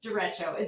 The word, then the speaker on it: derecho: what, you mentioned the derecho, that's Mm-hmm.